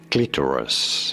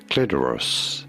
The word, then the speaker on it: clitoris: Clitoris. In American English, however, this is usually said as clitoris. Clitoris in American English versus clitoris in British English.